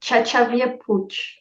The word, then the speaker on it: Xavier Puig: name I'm from Barcelona so it's a Catalan name nice awesome but depending even within my the reason where I live they like pronounce it differently depending on the region so it always causes like a lot of confusion yeah I can imagine